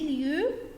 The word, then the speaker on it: lieux: We have les lieux or place. Don't pronounce X. Les lieux et place. X only opted for the plural.